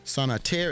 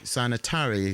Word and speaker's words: Sanatari: We have Sanatir. Is that the correct way of pronouncing your name? Sister Sanatari. Sanatari. Excuse me.